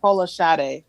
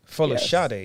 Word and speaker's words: Folasade: Folasade? How do you say your name? I know it's Nigerian. I'm going to butcher it. Oh, okay. Yeah, Folashade. Folashade. Yes.